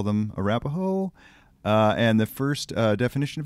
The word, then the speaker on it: Arapaho: It's Arapaho. Can you spell it for me?